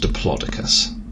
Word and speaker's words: diplodocus: tree like a tree trunk it's probably a diplodocus it's actually pronounced diplodocus i know i was disappointed as well does